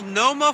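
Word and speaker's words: Multnomah: everyone comes to see Moma Falls you don't pronounce the T oh snap look at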